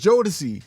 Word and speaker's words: Jodeci: It was Jodeci Oh wow.